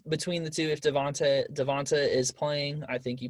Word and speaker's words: Devonta: cop out but devonta is it devonta or devonte i don't want to say it wrong it's devonta devonta freeman um he's still